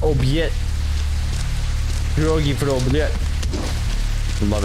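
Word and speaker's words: обед: The Russian, word for lunch and it's pronounced obyet.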